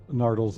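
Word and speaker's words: Nardole: And the way the doctor said Nardal's name, because it's usually the accent on the first syllable, Nardal.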